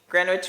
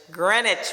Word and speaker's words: Greenwich: my list for uplifting Greenwich Village Greenwich Village the W is silent is what I've been told from Bond number nine